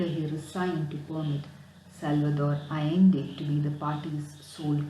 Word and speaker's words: Allende: candidature to allow Salvador Allende to be the sole candidate of the Communist Party. So the name is pronounced as Allende, not Allende, it is Allende.